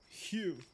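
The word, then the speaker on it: Heu: Hugh. Just like when you do ew, but with a H.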